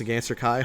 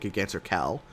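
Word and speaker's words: Giganter Kai: It's pronounced Gigantor Kai, hope that helps. It actually does help because I'm pretty sure when I made these proxies, I called it Gigantor Cal. I thought this was an L.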